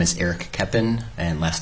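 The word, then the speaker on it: Koeppen: name and spell it my name is eric keppen and last name is spelled k-o-e-p-p-e-n okay a couple of things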